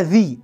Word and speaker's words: the: ممكن انطقها ذا، ممكن انطقها ذي، ذي امتى؟ لو يجي قبلها حرف فاول، يعني ايه؟ يعني عايز اقول النهايه، هقول ذي اند، ما اقولش ذا بقى ليه؟